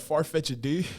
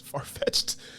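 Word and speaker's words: Farfetch'd: used to call it I used to call it farfetched D and it's farfetched what I don't even know what that is when I was a when I was I was like pronounced every letter and and apostrophe in the I know for a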